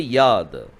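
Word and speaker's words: יד: you speak about hand you have to say Yad okay don't say yod it is Yad so this is how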